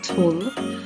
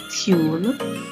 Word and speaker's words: tulle: I am Jamaican, I say tulle. Some persons might pronounce it as tulle, but I will make